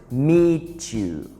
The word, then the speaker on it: meet you: nice to meet you be careful with the meat and you when we put meat and you together we pronounce it meet you so nice to meet